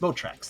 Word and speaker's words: Motrax: his name right well I think it's moatrax Mo tracks that's it he's a nice dragon